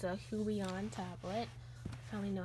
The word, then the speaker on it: Huion: It's a Huion tablet.